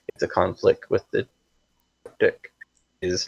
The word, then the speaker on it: Triptych: Yeah, Triptych.